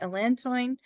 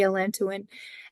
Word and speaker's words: allantoin: It has allantoin in it as well, and it may be pronounced allantoin, but I say allantoin.